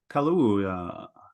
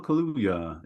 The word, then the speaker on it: Kaluuya: Can you pronounce it, Giles? I'll try to not butcher it. Let's see. Daniel Kaluuya. Daniel Kaluuya is probably how you'd probably be all right with that.